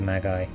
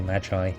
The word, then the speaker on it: Magi: Okay, so the eyes of the Magi, or Magi, depending on how you say it.